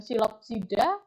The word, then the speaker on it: Psilopsida: silopsida spenopsida dan teridopsida Jadi kalau bahasa Latin ituh bacanya lucu ya p-nya kayak hilang jadi silopsida venopsoda kemudian teridopsida jadi PP di depannya tuh kadang suka hilang gitu tidak terdengar ya itulah bahasa Latin ya